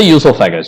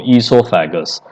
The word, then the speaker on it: oesophagus: Buccal cavity is this, the buccal cavity, and then there is a food pipe or the oesophagus. Oesophagus people pronounce with O in the starting or without O, esophagus.